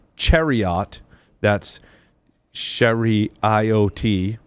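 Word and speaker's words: CHERIoT: released Microsoft research has released a paper called Chariot that's Sherry iot pronounced Chariot sweet sweet rethinking security for low-cost embedded systems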